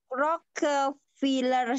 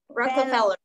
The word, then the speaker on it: Rockefeller: Rockefeller Center. Okay, bukan Filler tapi Feller. Rockefeller. Feller. Okay, repeat it.